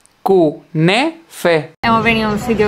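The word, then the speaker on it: künefe: Vamos a comer kunef. No sé si se pronuncia así, pero me da igual. No se pronuncia así, se dice kunefe.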